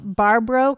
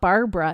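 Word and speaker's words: Barbro: name again so they barbar so it's not Barbara it's barbar b a r b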